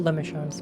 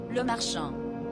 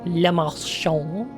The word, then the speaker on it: Le Marchand: We will know Lemachant's mind. Oh. Oh boy. This isn't AI. Le Marchand. Le Marchand.